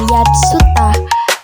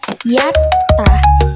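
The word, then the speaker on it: やった: Contohnya ketika ada huruf ya, su dan ta, maka dibacanya bukan yatsa, melainkan yattah. Karena huruf su di sini berperan sebagai menggandakan huruf depannya.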